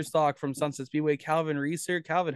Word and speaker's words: Reesor: number two Pure Stock from Sunset Speedway Calvin Reeser Calvin how are you man no it's about